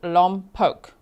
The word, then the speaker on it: Lompoc: Kelly Lisa says, "Just to let everyone know, I live in Lumpoke, pronounced Lumpoke." Did I say it right? Lumpoke.